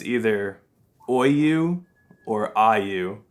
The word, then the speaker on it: Aoyue: asks how to pronounce Oyu. So we just Okay. want to hear from you what the actual pronunciation is. Well, it's actually uh, more of Aoyue.